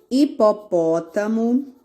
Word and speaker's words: hipopótamo: Então, todas as palavras que começar com H, ele não vai falar nada. Hipopótamo, hoje, hora. Observa que o H, ficou mudinho e a letrinha que veio à frente, que é a vogalzinha, falou primeiro.